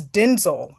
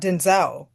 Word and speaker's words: Denzel: this whole time, that it's Denzel, not Denzel. What? Yes, yes, Larissa. I was like, what? I never knew this. Oh my gosh, she's just like, yeah, that's Denzel.